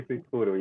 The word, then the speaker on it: Kuikuro: you do with indigenous tribes in Brazil, the Kuikuro, the Xingu? The Kuikuro, yeah. Yes. Correct. Yeah. Did you like my pronunciation there?